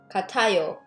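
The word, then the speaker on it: 같아요: kata basic kata notice the pronunciation i sound shifted kata katayo okay my car and my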